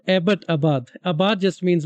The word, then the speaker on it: Abbottabad: They try to say it like that, but it's literally the English name Abbott because we were colonized. So it's Abbottabad, like named after some old English guy.